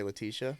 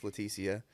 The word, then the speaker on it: Letia: her name is letia most people mispronounce it and say Leticia but it's latia and uh so I